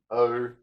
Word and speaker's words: ogive: That's the way to pronounce it, ogive.